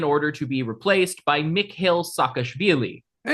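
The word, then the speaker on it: Mikheil Saakashvili: There was a contested parliamentary election and Charvadza resigned in order to be replaced by Mick Hill Sakashili. Hey, you pronounced that correctly.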